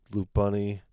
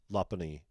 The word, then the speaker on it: Lopunny: Got the Full Art, Loop Bunny here, and Lopunny, I guess. Lopunny is how you say it.